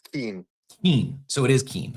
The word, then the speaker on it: Keyne: according to Google, it says Keen. Keen. So it is Keen. Okay. K. The phonetic pronunciation, apparently, according to Google, is Keen.